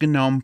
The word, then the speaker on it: GNOME: here for a second it is pronounced gnome for a reason because gnome is an acronym okay and we can